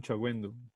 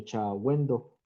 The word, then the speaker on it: Chagüendo: Chagüendo. Ah, sí, señor, me faltó agregarlo. ¿Cómo se escribe su apellido? Chagüendo. Exactamente, con G y con diéresis. Chagüendo. G-U-E-N-D-O. Exactamente.